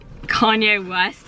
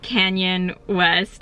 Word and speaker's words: Kanye West: And like Kanye West, he pronounced Canyon West, and Parfell Williams.